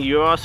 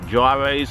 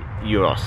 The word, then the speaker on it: Yiros: good euros keep in mind i am saying euros here in adelaide because that's how we pronounce it in other countries it's pronounced gyros or souvlaki depending where you're from but because